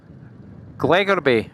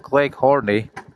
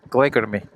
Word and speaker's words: Glegorby: Glegorby, that's how you pronounce that, Glegorby, not Gleghorny, Glegorby.